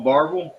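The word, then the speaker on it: Barbourville: It was when you pronounce it as it's spelled, it's pronounced Barberville." Okay. He said, "Uh, y'all want to go to Barville, Cruz Square?"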